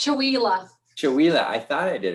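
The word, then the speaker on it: Chewelah: Can you pronounce that for me, Jennifer? It's Chihuahua.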